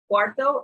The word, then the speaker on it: cuarto: what about the quarter hour quarter hour is pronounced now do you make note cuarto is the quarter hour it's not four four